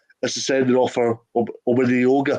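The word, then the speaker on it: Omeonga: The one that I'm debating from a Livingston perspective more is the sending off for Omenioga. Is that how you pronounce it? Omenioga? Omiyonga.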